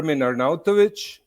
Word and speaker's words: Arnautovic: your Italian background uh the name is ER arnovic and arnovic yeah with the c at the end but